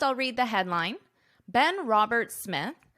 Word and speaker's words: Robert Smith: Robert Smith notice this his name ends in an S Roberts but the second part of his last name starts in an S so in this case you only pronounce One S Robert Smith Robert Smith